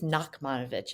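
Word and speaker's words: Nachmanovitch: play by I think it's Nakmanovich is the way it's pronounced and I was assigned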